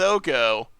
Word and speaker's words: Oko: Yeah, I think Oko's kind of just like okay in this matchup. Oko, not okay. That's not how you pronounce his name.